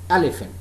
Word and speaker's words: elephant: And in this case, the example is elephant. Stressed, unstressed, unstressed. Elephant. Elephant. It's not elephant. Elephant. This word has got 3 syllables. The first syllable is stressed, the second is unstressed, and the third is unstressed.